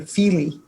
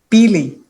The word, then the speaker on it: Pili: And I have to apologize for mispronouncing your name, but I also noticed that Mayor Pro Tem kept calling you Fili, but it's Pili, Pili.